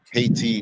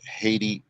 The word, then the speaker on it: Haiti: For those of you who don't know, the Spanish said IET, the French said IET, our ancient ancestors said IET. It's only when we get to English we're getting the pronunciation of the word Haiti or Haitians. And subconsciously, what word in English does that have when we hear the word Haiti or Haitians? Can't hear y'all? Hate. Hate, right.